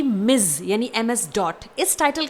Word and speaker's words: Ms.: यहाँ पर इस टाइटल को हम प्रोनाउंस करते हैं मिज। जी हाँ, इसमें इज का साउंड आता है, इस बात को आपको ध्यान में रखना है।